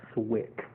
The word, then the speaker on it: SWCC: here it is fWCC that's called Swick that's how they pronounce it let's go so um